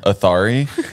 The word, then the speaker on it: Athari: Athari. Athari.